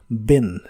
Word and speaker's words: been: diferencia de otros casos la doble e de esta palabra se pronuncia como una i pero corta y explosiva y suena ligeramente como e pero no es e es y corta Ben Ben y usaremos